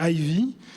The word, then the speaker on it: Ivy: m'est très cher et qui s'appelle heavy alors allons anglaise pour l'époux est prononcée ivy alors c'est un prénom